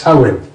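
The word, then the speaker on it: Tywyn: If you look at the first Y as an O, it's Towin.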